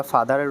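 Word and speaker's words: father: going to বি ফাদার আমরা ফাদারের উচ্চারণ ফাদার বলি ঠিক আছে এফ এ টি এইচ ই আর ফাদার যদিও আর রয়েছে এই শেষের আর এর উচ্চারণ আমরা করবো না ফাদার আই এম গোইং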